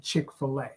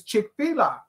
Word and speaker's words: Chick-fil-A: get something from Chick-fil-A I say that is chicka look at the way that it's spelled it's f i l a growing up you had a p Filas on filt is spelled what f i l f i l TT that's a filt FL fish so I know and I feel strong about it that I'm saying it right it's chick fila she says it's Chick-fil-A